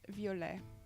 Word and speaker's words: violet: Purple in French is violet. That's how you pronounce it. Violet. So yeah, you got it right. We don't say the T cuz you know French people do love their mute letters.